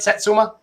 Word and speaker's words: Satsuma: that again for you um and um and Satsuma am I saying that right Satsuma yes you are okay cool because I um I butchered one oh there's a Lebanon Missouri poll